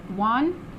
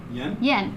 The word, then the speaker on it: Yen: And then I'm going to probably not say his name correctly, but for our video, is it Juan? Yen. I knew it.